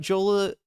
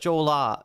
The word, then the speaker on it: Jolah: Is it Joolah with an uh or an ah? Jolola. No, it's ah. It's got to be ah, right.